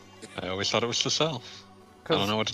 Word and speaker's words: Sissel: I always thought it was Cecile. I don't know what to tell you, buddy. Because Sissel rhymes with missile, and missile is for fun.